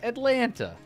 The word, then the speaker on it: Atlanta: I know that's how you say it, but some people say it Atlanta. Like it rhymes with Mylanta.